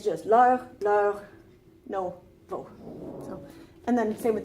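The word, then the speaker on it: vos: We have no and vo, so we don't pronounce the S unless there's a word that starts with a vowel that comes after it.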